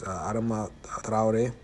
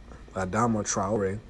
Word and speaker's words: Adama Traoré: with cases such as Adama Traoré. That's how you really pronounce it, but in English they pronounce it Adama Traoré.